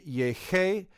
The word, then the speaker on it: llegué: And you can see the first person would be llegué and pegué. We want that g sound in the first person singular, so we add a u.